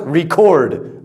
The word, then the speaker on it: record: you guys use it as a verb. It is pronounced record. That is a verb, right? I need to record my voice, save it. Now, as the other one, as a noun, record. Where do you keep your records on your phone?